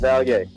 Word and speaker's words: Vallier: Mispronounce. No, it's okay, man. It's okay. It's Vallier.